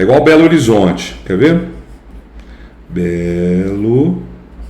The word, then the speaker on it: Belo Horizonte: Belo Horizonte. Percebe? Então esse fenômeno é um fenômeno fonético. Belo horizonte é na escrita, na hora que eu falo é Belo Horizonte.